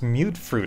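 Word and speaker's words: Mutfruit: It's pronounced mute fruit. I always pronounce it mutt fruit.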